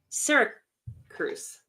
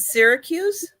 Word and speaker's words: Syracuse: is that right uh Sy Cruse is that how you say it I'm not sure if I'm saying that right China is it Syracuse Syracuse yeah that's it but it's um it's